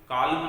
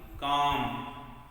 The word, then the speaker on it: calm: Then काम, CALM, यहाँ ध्यान रहे एल जो है वो साइलेंट है, एल का साउंड नहीं होगा, काल्म नहीं, काम, ठीक।